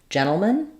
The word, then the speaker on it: gentlemen: stay the same but when we change to gentlemen um we end up with a reduced vowel in that final syllable in the dictionary you